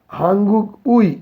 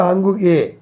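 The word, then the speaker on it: 한국의: হাঙ্গুক উই, কিন্তু উচ্চারণ হবে হাঙ্গুক এ। এই উই যখন কোনো শব্দের পরে বসে তখন এ উচ্চারণ করতে হয়।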